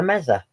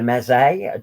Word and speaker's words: meze: It's a Mediterranean restaurant, and we're gonna get the mezza or the meze, depending on how you pronounce it.